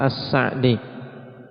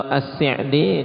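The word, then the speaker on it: السعدي: Kalau secara bahasa yang fasih, lughah yang fasihah, maka dengan memfathah As-Sa'di. Kemudian kalau As-Si'di ini banyak kita dengar As-Si'di dengan kasrah. Itu berdasarkan lughah amiyah, berdasarkan bahasa yang biasa diucapkan oleh dialek mereka. Jadi kebanyakan orang mengucapkan dengan as-si'di di sana. Lughah amiyah. Tapi makanya kalau dalam kitab-kitab penulisannya dengan apa? Dengan fathah kita dapati harokatnya as-sa'di.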